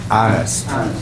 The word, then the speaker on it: honest: the question notice it has an H but it's a silent h so it's honest yeah honest um a